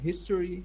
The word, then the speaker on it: history: What about the noun history? History, Yeah, yes. History. History. Yeah. First syllable, but when it's an adjective, that will be on the second one.